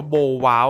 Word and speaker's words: BowWow: นี้ เป็น ของ คุณ โบโว เป็น คน เกาหลี ครับ คือ จริง ๆ มัน อ่าน ว่า โบ ว้า อ่ะ นะ ครับ แต่ ผม ขอ เรียก แนว ของ เขา ว่า โบโว หรือ โบโว แล้วะ กัน เพราะ ว่า